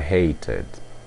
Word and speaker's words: hated: O passado fica I hated. I hated. Isto porque o verbo termina com o som de T. Você pronuncia como for id.